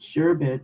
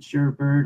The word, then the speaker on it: sherbet: for over 20 years I've always pronounced it sherbet no art at the end but I did grow